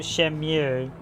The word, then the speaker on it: Shenmue: i i would argue shem you or shenmue see i pronounced it shenmue and i've had a few people pronounce it shem you so i'll stick with shem you but i don't even